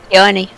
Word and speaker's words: Peony: Peony. Peony. P-E-O-N-Y. Peony. Peony. Okay. That sounds Otherwise, awful. It sounds like you're saying pee on me.